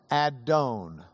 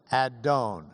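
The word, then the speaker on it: אדון: It was a word that in Hebrew is adon. Adon. Say it. Adon. You can add I unless you're Ashkenazi in which you'd add oi to the end and you could say adoni or adonoi which means my lord.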